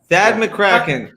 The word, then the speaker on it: Thad McKraken: it sad it's that I've always wanted that that McCracken that's how you pronounce my fake name right right it's I